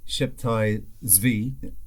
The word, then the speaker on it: Sabbatai Zevi: The year 1666, or as I am suggesting, I-666, was the year that Sabbatai Zevi, or Sheptai Zvi, as I've heard it pronounced, ushered in the year of redemption through sin.